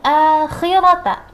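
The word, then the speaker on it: الآخرة: Wa inna lana lal akhirata. Lal akhirata. Coba lal akhirata. Khirata. Wa inna lana lal akhirata. Ya, akhirata. Agak ditajamkan ya kha-nya. Kha, akhirata. Jadi saat membacanya harus dengan jelas. Fa anzartukum naran talazza la yaslaha illal ashqa.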